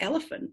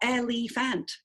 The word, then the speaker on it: elephant: so what I like elephant absolutely it's not elephant is it its elephant and it's hard because you can't hear the vowel the vowel is only